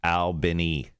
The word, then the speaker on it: Albany: Charles Albany in Georgia, pronounced Albany.